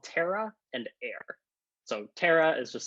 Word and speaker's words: Aer: things called terra and air so terra is just spelled like this air is aer um okay so the